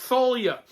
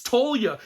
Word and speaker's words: Thalia: know for a fact that you're supposed to pronounce it Thalia and yet so many people in the comments were like dude you're the one pronouncing it wrong it's Talia you pronounce that name Talia well you know